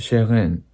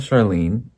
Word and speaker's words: Chairene: It's It's French or it It's supposed to be pronounced in French. It is not Sharon.